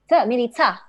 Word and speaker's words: Milica: Is it with a K or a Ch? K or CH when I pronounce? Milika or Milicha? Milica.